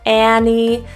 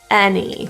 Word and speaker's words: any: from your teeth any you'll hear many different pronunciations of this you might hear e Annie or you might hear it e any choose the one you like give the main issue